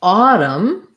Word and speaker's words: autumn: sounds like a adam but autumn has the ah like paw first syllabus dress that's more like autumn um in the dictionary you're going to see ah dumb so writing it out i would write ah autumn autumn adam um tough words thank